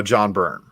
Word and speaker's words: John Byrne: This is the Omnibus by John Byrne. And shout out to McClay for making me pronounce it correctly.